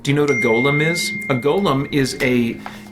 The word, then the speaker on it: Golem: to is a Golem it's not a Gollum it's a Golem and it's all over